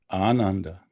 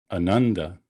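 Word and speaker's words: Ānanda: notice that that word that name starts with a long a ananda so his name is not ananda but the first a is long which puts the stress on the first letter ananda okay so that's sort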